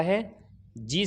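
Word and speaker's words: hedge: गया इसी तरीके से हैज के अंदर भी जी से पहले दी आया साइलेंट हो गया इसी तरीके से ब्रिज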